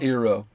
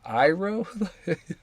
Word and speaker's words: Iroh: He's like, it's actually like Iroh.